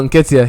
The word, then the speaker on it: Nketiah: Oh, Nketiah.